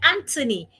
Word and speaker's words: Anthony: Like Anthony, the H is silent.